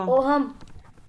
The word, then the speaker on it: ohm: Sir, but it is OHM हाँ, the H is silent over here.